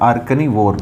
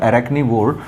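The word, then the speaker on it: arachnivore: अगला शब्द आपके सामने लिखा हुआ है आर्कनीवोर। देखो आर्कैनीवोर, अरैकनी, सॉरी इसका प्रोनाउंसिएशन होगा अरैकनीवोर।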